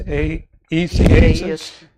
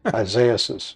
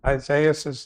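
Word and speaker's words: Isaias: 2020 with uh um I always pronounce this wrong it's a easy Isaiah says yeah Isaiah says and and then this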